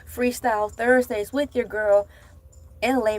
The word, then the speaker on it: Elay: You're locked in to Freestyle Thursdays with your girl, LA, pronounced like LA, like the city.